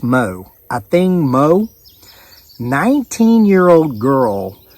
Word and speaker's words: Mu: And her last name is spelled M-U, but it's pronounced Mo.